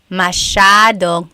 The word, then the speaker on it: masyadong: Masyadong means a lot. So the S-Y-A is a sha sound.